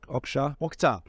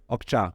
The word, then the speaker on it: Okja: Because I've always wondered, how do you actually pronounce the name? Bong Joon-ho. Oh no, sorry. The name of the movie, Okja or Oksha? Okja.